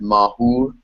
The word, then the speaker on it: Mahur: And at the same time, there's no r in Persian, so they say hu instead. So they pronounce it mahur instead.